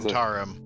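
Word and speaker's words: Zhentarim: here by the I keep forgetting how to pronounce that, Sam. What was it? Zentarum.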